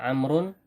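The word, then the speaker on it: عمرو: Ini bacanya Amrun, ya. Amrun. Nah, di sini waw di sini adalah waw tambahan yang membedakan antara Amr dan Umar, ya.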